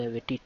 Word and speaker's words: Wetty: Wetty tool is normally pronounced as web plus tty. It means that to access the terminal page in browser. So now we can see how to install the Wetty tool with Nginx.